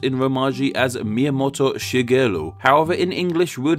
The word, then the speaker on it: Shigeru: An example, this single character in his name is pronounced Shigeru.